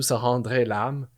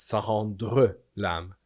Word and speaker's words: sans rendre l'âme: Don't do sans rendre l'âme. It's sans rendre l'âme.